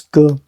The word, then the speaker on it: 戈: Pronounced as this, ge.